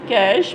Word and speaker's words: cache: Cache, pronounced as cache, memory is placed between CPU and main memory.